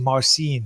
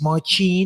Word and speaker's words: Marcin: in my ear because I kept saying marcin because ma are cin michael little note it's mochi mochi no man oh [